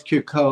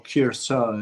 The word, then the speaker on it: Curacoa: How did you pronounce it, David? Curacoa? Well, it's Curacao or Curacao.